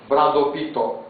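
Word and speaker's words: ブラッドピット: Bom, o próximo vocês vão adivinhar, que é muito fácil, mas é a pronúncia deles. Bradopito. Coitado do Brad Pitt quando ele escutar Brado Pito.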